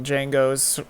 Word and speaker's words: Django: do with the original Django's, kind of. He's in it, though. Yeah. Oh, he is? Yeah. Yeah, at the bar. Oh, that's right. I knew that. Yeah. The D is silent.